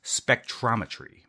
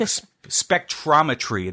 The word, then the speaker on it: spectrometry: it's words like spectrometry that trip me up. There are 2 R's in that word. It sounds like there should only be 1 R.